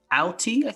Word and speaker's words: Auty: The song Walking in the Air is sung in the special by Peter Auty. Did I pronounce that right? I think it's Auty.